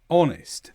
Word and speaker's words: honest: But in some words beginning with h o the h is silent such as our honest. The h is completely silent.